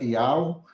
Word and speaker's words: Yauh: Vamos tratar do nome do Criador na sua essência original, que é o nome perfeito, Yud-He Vav-He, sua pronúncia Ial, e o nome do seu filho Yud-He Vav-Shinhai, sua pronúncia Ialcha.